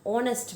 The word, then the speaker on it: honest: Arun is an honest man, right? तो दोनों के अंदर हमने एन लगाया है क्योंकि यहाँ पे पहला लेटर जो कॉन्सोनेंट है वो साइलेंट है।